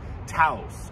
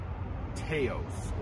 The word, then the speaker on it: Taos: this is the 2022 volkswagen taos or taos or tase it's spelled t-a-o-s perhaps however you want to pronounce it all you have to